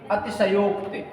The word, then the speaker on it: अतिशयोक्ति: बात और जान लीजिए, अतिशयोक्ति अधिकांश विद्यार्थी इसका शुद्ध उच्चारण करते हैं, अशुद्ध उच्चारण करते हैं अतिशयोक्ति। ठीक है, और लिखते भी इस तरह से हैं अतिशयोक्ति। तो ये अशुद्ध वर्तनी है। ठीक है, अशुद्ध वर्तनी है। अतिशय धन उक्ति, अतिशय धन उक्ति से बना है अतिशयोक्ति।